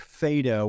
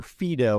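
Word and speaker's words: Phaedo: interesting it comes from Plato's work Fado or Fido as it's variously pronounced that it's just a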